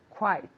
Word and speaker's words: quite: Quite. Very good. Quite. So we have quiet, right? Callado is quiet or quite. Quite. It sounds like a W.